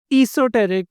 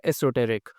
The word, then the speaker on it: esoteric: esoteric or esoteric both are correct pronunciations the first is British while the second is American Esoteric is a term